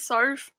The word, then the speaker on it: Soph: do you want to tell everyone how to pronounce your name sorry it is sorf however it's pretty much it's pretty much a